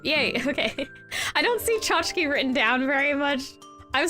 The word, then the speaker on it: tchotchke: I don't see tchotchke written down very much. I'm surprised I recognized it. It's actually, I think, the last syllable of the chki. I'm like, wait, isn't that chki? Oh, it's tchotchke.